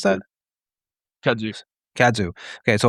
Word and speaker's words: kudzu: How do you pronounce that? Kudzu.